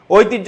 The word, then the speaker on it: ঐতিহ্য: তোমরা শুধু ভাইয়ার লেখাগুলো পড়বা হ্যান্ডোটটা পড়বা নেক্সট ঐতিহ্য শব্দের প্রমিত উচ্চারণ কোনটি ঐতিহ্য শব্দের উচ্চারণ কোনটি সঠিক উত্তর